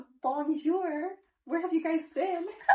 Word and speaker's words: bonjour: Or, like, in bonjour, it's like a je sound, but she says bonjour, not bonjour.